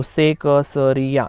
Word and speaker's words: सेकसरिया: अलग अलग अक्षर हैं, तो उसका प्रोनाउंसिएशन भी थोड़ा सा अलग अलग ही होना चाहिए। तो सेकसरिया इस प्रकार से, सेकसरिया इस प्रकार प्रोनाउंस करना है।